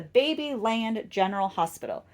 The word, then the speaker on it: Babyland General Hospital: that is the ba I'm sorry I keep saying it wrong it's the baby land General Hospital so in 2009 that's